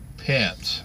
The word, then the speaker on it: Pence: Is it Pence or Pierce? Let it come up here a second. Let's see. Yeah, I know all that stuff. Pence. P-E-N-C-E. Pence. So, Vice President Pence.